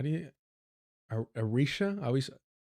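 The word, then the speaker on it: Eritrea: I always struggle with pronunciation. Like something about the way I say it just doesn't come out. Uh, Eratria. Eratria.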